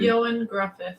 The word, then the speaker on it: Ioan Gruffudd: Ioan Gruffudd.